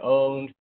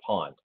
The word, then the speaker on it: pwned: what the pronunciation is i've heard it as just as have i been owned have i been pwned or have i been pawned it doesn't matter how you pronounce it it's all the same thing it means has somebody